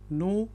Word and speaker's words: know: अब याद रखें यहाँ पे जो के है वो साइलेंट है, इसलिए मैं कह रहा हूँ यू नो मोर। कनो नहीं इसको पढ़ना आपने कहना है यू नो मोर।